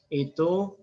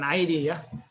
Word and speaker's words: id: tentang itu ego superego jadi bacanya it ya bukan aidya it jadi terdiri atas naluri